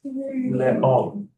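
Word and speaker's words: לאום: So this on its own is l. Just a sound because of the shva underneath, and it makes it silent, right? So it's l. This is aleph. It's a silent letter, but it has the cholam, so it's oh. And then is so together it's le'om.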